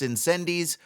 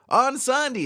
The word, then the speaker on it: Incendies: five minutes ago I did think it was pronounced in C's go figure on Sandi is how it's pronounced yeah thanks a lot